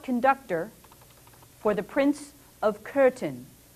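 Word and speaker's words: Köthen: for the prince of curtin c-o-t-h-e-n is pronounced curtain and he remained there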